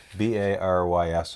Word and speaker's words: Barys: Barys is how you would pronounce it in English.